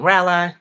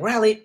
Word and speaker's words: Raleigh: Somebody said, now Calvin, rally. It's rally, right? Like rally, like not rally.